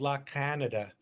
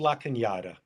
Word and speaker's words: La Cañada: Well, people think it's called La Canada. It's Oh, right. it's called La Cañada. La Cañada. It's a lot of. It's a lot. It's a lot. Yes. La Cañada.